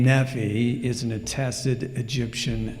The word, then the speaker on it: Nephi: Thus, NPY that we transliterate would be pronounced as Nephi.